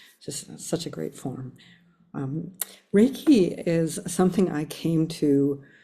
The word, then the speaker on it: Reiki: Reiki itself is a word that's divided into two syllables.